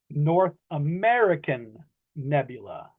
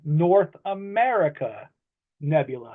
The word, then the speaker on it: North America Nebula: you you may have heard some people say North American Nebula, but that is incorrect. The correct the the correct way to pronounce that to to the the correct name is North America Nebula.